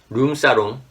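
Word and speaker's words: 룸살롱: room ahead of it like room salon in korean pronunciation is rum sarum i'm afraid to say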